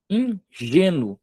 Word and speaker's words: ingênuo: Ingênuo. Ingênuo. Tá vendo que o G eu puxo com a entonação mais forte? Paroxítona.